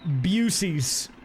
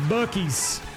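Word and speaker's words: Buc-ee's: No, it's pronounced Bucky's. Bucky the Beaver, y'all.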